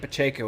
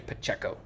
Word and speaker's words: Pacheco: I'm being told I'm mispronouncing Derek's last name. I'm pronouncing it Pacheco as it's supposed to be. It looks like you're saying Pacheco, as if it's a short E.